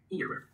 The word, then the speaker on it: era: one is era，啊，please repeat after me， era。